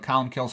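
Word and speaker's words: Colm Cille: you know it's here's how it's spelled but colum kills how it's pronounced he lived from about 540 to 614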